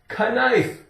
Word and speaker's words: knife: If you don't say it correctly, knife.